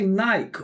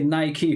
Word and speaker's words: Nike: or do you say Nike? Cuz he said Nike. They say Nike. I think. That's what I thought only like British people We say Nike, but I think Americans say Nike.